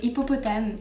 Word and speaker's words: hippopotame: So we say hippopotame in French.